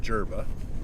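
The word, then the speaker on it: Durba: some annoyance rolling into derba Springs now and here we are at derba Spring which apparently spelled or pronounced gerba but I have never heard anybody call it gerba well here we are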